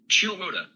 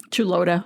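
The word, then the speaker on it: Chuluota: How to pronounce? Chulota. Chulota.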